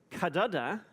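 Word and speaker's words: cdr: The cudder, this is actually the canonical pronunciation, is the car of the cudder, which will be the third element, and you could keep going.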